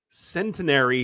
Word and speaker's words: Centenary: Honestly, a lot of people get that mixed up with like centenary, cemetery. So it's like, yeah, you got C- it right. Cemetery. There's no N in it.